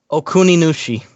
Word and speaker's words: Okuninushi: Okuninushi. Yeah, pronounced exactly like it's spelled.